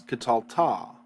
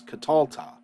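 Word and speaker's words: קָטַלְתָּ: you killed well now instead of catal it's catalta and actually it's katalta we're going to accent the catal we're going to accent this syllable here so you can see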